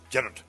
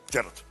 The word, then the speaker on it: Gerard: Okay, in Scottish, Gerard. Gerard. Gerard. Hey, Gerard. Gerard. Like that, yeah.